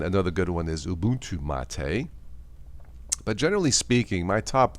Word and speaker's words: MATE: If you want to try Linux Mint, I recommend the Mate or the Mate version, as it is called. It's spelled Mate, M-A-T-E.